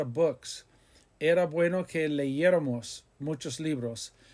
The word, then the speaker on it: leyéramos: Era bueno que leyéramos muchos libros. Leyéramos, Leyeramos, accent on the E after the Y, leyéramos.